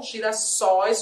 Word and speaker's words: girassóis: de um acento porque na pluralização da palavra girassol a pronúncia do O que é fechada Girassol Aliás não né Não abriu a pronúncia a pronuncia já era aberta Girassol Girassóis o oi tem acento